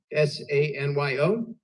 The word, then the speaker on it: Sanyo: But it's Sanyo. That's the round pronunciation. That is the proper pronunciation.